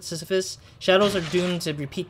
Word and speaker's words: Sisyphus: sh or shades um like syphilis or like sisyphus i think that's when you pronounce it sisyphus shadows are doomed to